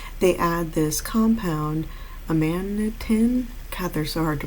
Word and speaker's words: amanitin: So amanitin binds, like amanatee is what I want to say, but no. Amanitin binds to RNA polymerase's active site.